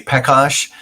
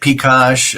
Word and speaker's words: Pecosh: It's it's whatever you I listen every mostly we say Posh. Uh but you get Picos uh Pash depending what